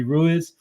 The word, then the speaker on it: Ruiz: And now he wants the second prototype, which is Jimmy Ruiz. So Ruiz. So we've got a roll your R, Dodgy.